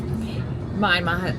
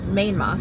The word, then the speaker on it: Myanmar: And if you don't know much about rubies, Myanma Myanmar, sorry. I keep it up. Also so embarrassing. I've been saying it wrong, which I knew.